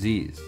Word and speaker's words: Zyzz: his name is pronounced z or sis he actually answered that question himself in a post he stated that my name is aziz z equals however you pronounce the z's minus the a so in before anyone